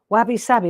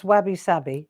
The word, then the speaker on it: wabi-sabi: right peace wabi sabi have you ever heard of the words wabby sabby i love this expression wabby sabby i'm probably saying it wrong it's probably wabi-sabi that sounds a little bit more incredible doesn't it i'm there